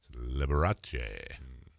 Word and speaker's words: Liberace: He's like, "It's Liberace. It's Italian."